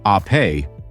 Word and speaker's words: Ape: This is the Vespa Ape, pronounced "ah-pay", which means bee in Italian, just as Vespa means wasp.